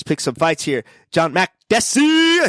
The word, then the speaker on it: Makdessi: All right, Francisco Trinaldo against John Makdessi. Is that right? You did say it right. Boom. Makdessi.